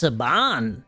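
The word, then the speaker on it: Saban: it's put out by seven skippity dooo it's pronounced sabon like you're a will you think that's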